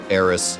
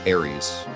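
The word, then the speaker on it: Aerith: and Oddities video, and I called Eris Aries, because that's how I called her as a kid, and I thought no one would care, and everybody cared. And so then I stopped calling her Aries, because that was dumb. So I corrected that, because that was too far. That was just incorrect. That's just not even what the name is.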